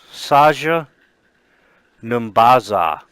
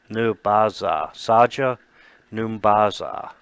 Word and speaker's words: Saja N'Baza: And it says, I am Saja Numbaza. Saja Numbaza.